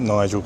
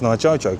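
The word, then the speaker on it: 二条: it's not Nijo Castle. It's actually pronounced Nijo Castle.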